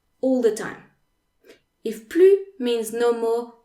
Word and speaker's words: plus: we'll have examples so if the word that follows plu is an objective or adverb that starts with a consonant then the s is